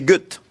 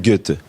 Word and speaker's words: Goethe: Non, pas parler allemand, non, mais toute ma vie, j'ai prononcé Goethe. C'est Goethe.